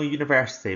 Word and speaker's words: university: Now even though university begins with a vowel, it's not got the vowel sound at the beginning, so it should be a university.